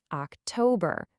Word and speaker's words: October: It's a weak, strong, weak syllable pattern that can really help you nail the pronunciation. Just listen closely. September, October, November, December. Hear that? Duh, dum duh. It's the same for all four.